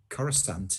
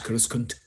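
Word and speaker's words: Coruscant: over it that's like i'm sure it's uh cora stant is that no it's kuruskan uh andrew grammer also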